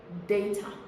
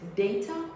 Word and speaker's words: data: Word number 5 and the last is data. So would you have pronounced this data or data?